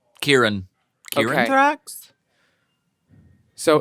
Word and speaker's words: Kieran: So, drag name is Kyron, like Ty, and my boy name is Kieran, but it's spelt the same way, so it can get confusing. But yeah, Kyron in drag, Kieran out. Kyron in drag, Kieran out of drag.